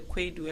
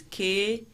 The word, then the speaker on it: Kwadu: Yes, and then one thing too, the Kwedu, the spelling of the Kwedu, a lot of people are having it wrong. It's KWADU Farms.